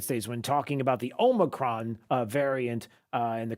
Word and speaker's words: Omicron: uh to the nation about the emergence of the omicron variant was mispronouncing it as the omnicron variant but that's okay it